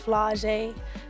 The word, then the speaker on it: Flau'jae: My dad's rap name is Camouflage. My name is Flau’jae. Flau’jae Monet. It rhymes, so I guess that's why he did it.